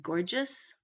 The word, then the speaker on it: gorgeous: examples English the G there are two G's in this word gorgeous and they sound different because of the vowels that are following them